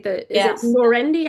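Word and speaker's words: Norendy: The is it Laurendi? How do you pronounce it?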